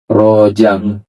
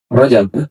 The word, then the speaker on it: Rajab: Kalau kalau orang Indonesia bilangnya rojam padahal tulisannya baca bacanya enggak ada yang dipengarkang, enggak ada yang dipanjangkan. Rajab ya. Jim bang rajab. Nah, tapi orang kita Indonesia terkadang memanjangkan, mempendekankan seenaknya. Ada Rajal, Rajal ya. Pokoknya salah-salah. Tapi ternyata tulisan daripada bahasa